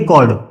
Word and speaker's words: chord: ए बी को बोलेंगे कॉर्ड। ए बी यहां पर कॉर्ड है, CHORD, कॉर्ड, ठीक है। काफी बच्चे चॉर्ड बोलते हैं, चॉर्ड नहीं, कॉर्ड है, कॉर्ड, ठीक, प्रोनाउंसिएशन सही होगी, कॉर्ड।